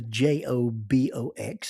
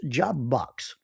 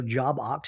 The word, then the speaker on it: Jobox: The official name of the j o b o x is actually pronounced jobox. It's not jobox or jobox, it's jobox.